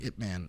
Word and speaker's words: Ip Man: Is it Ip Man or IT Man? I've heard both. It's Ip Man. Okay. I've heard IP. Some people say IP Man, but that's more of the.